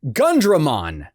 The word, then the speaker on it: Gundramon: I mean, you gotta pronounce it Gundramon. You hear that? Gundramon. You sound like a damn fool when you say it wrong.